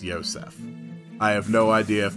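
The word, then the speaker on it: Josef: osef well it's because that specific spelling of the name joseph is more closely associated with its original uh abrahamic origins in which case it would be pronounced yosef i have no idea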